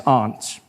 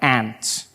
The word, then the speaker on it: aunt: For instance, I pronounce the opposites of uncle as aunt. I say my aunt. out here. You say my aunt, which to me is an insect, which made me look